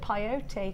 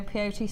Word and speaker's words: peyote: I call it peyote because it rhymes with coyote.